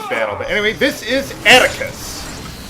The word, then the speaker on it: Attacus: But anyway, this is Attacus. Rhymes with abacus, I guess.